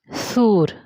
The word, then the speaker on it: सूर: भी मैंने लिख दिया सूर। तो इनके बीच के डिफरेंस को आप समझिए। ये जो सुर मैंने लिखा है, इसका उच्चारण छोटा हो रहा है सुर, इसका उच्चारण बड़ा हो रहा है सूर।